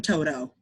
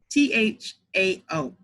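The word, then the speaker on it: Tou Thao: the Asian cop because I call him Toto. That's probably not how you pronounce it. And I'm probably wrong for that, but given what he did, I don't care about getting his name right. But his name is Touthao.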